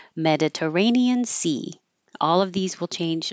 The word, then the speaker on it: Mediterranean: Stan with an a Mediterranean Sea Mediterranean Sea all of these will change let's say me stays Med du this T changes to a d r Mediterranean Sea parallel